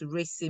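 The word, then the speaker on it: RACI: good project States okay so you said uh Ry Matrix so that's racy Matrix here just correction of the pronunciation there so please be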